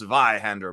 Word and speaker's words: Zweihänder: morning stray good morning zweihander James says exciting oh and it's pronounced via hander before you even start